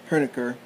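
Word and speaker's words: Hoenikker: where this guy name Herer at least that's the way the German or the Dutch would pronounce it it's h o e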